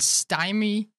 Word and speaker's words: stymie: You can harness the shrouding power of night to protect your allies and stymie. Is that how you pronounce that?